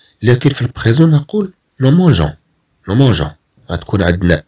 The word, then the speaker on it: mangeons: غنزيدو E فقط حتى تنطق هاد G كG ولا تنطق كG.